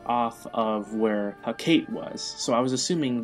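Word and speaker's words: Hekate: to get the journal for Hakate, or Hakate. I want to say it's pronounced Kate.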